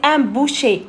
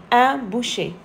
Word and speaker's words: boucher: E-R, c'est un boucher, E, on le prononce E, un boucher.